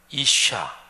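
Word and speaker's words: אִשָּׁה: 남자는 이쉬 이렇게 발음하고 여자는 이샤 이렇게 발음해요 지금 발음으로 들어서 아시겠지만 남자라는 이쉬 여자라는 이샤 요거는 영어 알파벳으로 적으면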